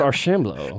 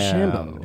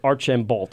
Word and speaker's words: Archambault: York, we have Archambault. Whoa, you nailed it. Archambault. Like, I love you, but Archambault. Emphasis on the ham. Archambault.